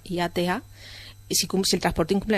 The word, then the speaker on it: IATA: para viajar en avión se escribe en mayúsculas ia o iata como suena iata si si el transporte